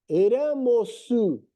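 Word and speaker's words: ラモス: Então, ó, se pronuncia o R, Ramosu, Ramos, Ramos, é Ramosu, aí Ramos, né?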